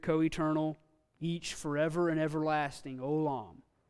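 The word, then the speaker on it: עולם: Olam. Olam, yes. Ayin is silent. Full holam. Lam. Olam. Two syllables.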